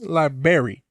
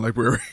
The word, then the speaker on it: library: Harry in librarian library library is a place with books liberry liberry what library in just like yeah library I mean if you want to say it like that you can't say library this is library it's always been library how do you